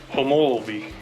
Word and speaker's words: Homolovi: and finding out how the official way to pronounce the state park is homology so yeah i turned